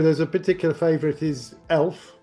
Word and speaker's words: Elph: In the first show there's a particular favorite is Elph, which is spelled e l p h rather than e l f.